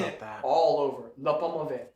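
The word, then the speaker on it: L'Paume Ouverte: Le Pommavet. L apostrophe P-A-U-M-E Mhm. and then separate word capital O-U-V-E-R-T-E. Le Pommavet means the open hand.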